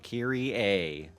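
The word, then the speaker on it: Kayrie: r i e so I spelled it this way because I want people to pronounce it correctly so Kiri a um yeah so that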